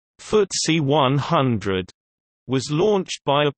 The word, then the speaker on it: FTSE: FTSE 100 Index, pronounced FTSE 100, was launched by a partnership of the Financial Times and the Stock Exchange on 3 January 1984.